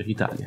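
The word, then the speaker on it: Italiae: Italie. Ok. La AE in latino dovrebbe leggersi E, in teoria.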